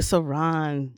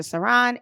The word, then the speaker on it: Saran: Also, I'm very accessible via Facebook at just Saran, space SARAN, like Saran wrap, but pronounced Saran.